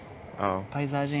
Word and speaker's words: paisagem: Paissagem? You say it! Rui: This walk? Joel: But there's a word for landscape? Rui: Landscape? "Paisagem" means landscape.